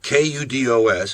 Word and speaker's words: kudos: Kudos, K-U-D-O-S, is a singular noun meaning praise, and it is properly pronounced kudos. There is also a plural form spelled the same, but pronounced kudos.